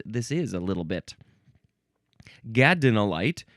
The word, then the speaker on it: gadolinite: Gadinolyte G- A D O L I N I T E.